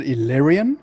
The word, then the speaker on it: Elyrean: you pronounce the name is it illyrian yeah illyrian yeah that's actually illyrian okay cool man yeah